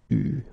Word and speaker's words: eu: Okay, you write it like that, but you pronounce it eu.